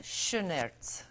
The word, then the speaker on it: Schoenaerts: I'm going to use the German pronunciation for my grandmother who's watching. Matthias Schoenaerts. That's probably the correct way, yeah.